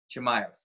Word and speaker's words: Chimaev: So it's spelled Khamzat. So Khamzat. Chimaev.